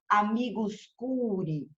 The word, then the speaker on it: amicus curiae: lado direito do sete amicus curiae mas se fala olha a pronúncia amigos cure amigos cure ok então primeira espécie